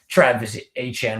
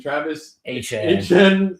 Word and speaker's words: Travis Etienne: Tyson, Bryce Lance, Barryon Brown, Oscar Delp, and Travis Etienne, which apparently is Etienne now and not Etienne. I forgot to mention that on the draft day. So Devon Etienne and Travis Etienne, there's both and different spellings.